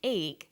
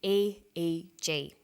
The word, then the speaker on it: EEG: We don't pronounce it EEG, we say EEG.